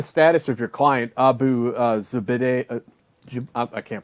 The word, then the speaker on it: Zubaydah: I mean, well, first off, what is the status of your client, Abu Zubaydah? I can't pronounce his name.